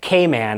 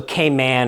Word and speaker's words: Cayman: up saying something like Cayman Islands and their emphasis being on the word man Cayman so k-man or came on uh but if I